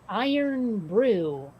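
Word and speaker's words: Irn-Bru: but i i learned about this it it's pronounced iron brew would you get that from this necessarily i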